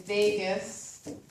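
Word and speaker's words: vagus: cranial nerve number 10 is Vegas not Vegas b-e-g -a-s had a textbook is spelled it down it's kind of hilarious but it's v-a-g-u-s this means The Wanderer this nerve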